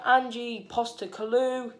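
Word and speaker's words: Ange Postecoglou: and of course the of course celtics manager angie poster kalu is how you say his name um he's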